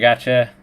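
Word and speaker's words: Pogačar: It rhymes with Smorgatcha, and it's Tadej Pogacar, obviously.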